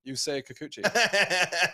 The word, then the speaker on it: Yusei Kikuchi: Yusei Kikuchi.